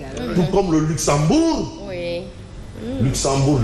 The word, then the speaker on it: Luxembourg: comme le Luxembourg oui Luxembourg les enfants ne prononcent pas le G à la fin il est il sont